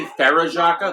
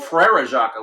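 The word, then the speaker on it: Frère Jacques: At least he's pronouncing it right. Instead of people usually when they try to sing that, they say Farajaka. That's not right. Because it's Frere Jacques, which means Brother Jacques.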